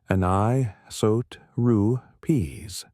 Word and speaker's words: anisotropies: These tiny fluctuations differing by only about one part in 100,000 from the average temperature are called anisotropies, pronounced anot ru peas.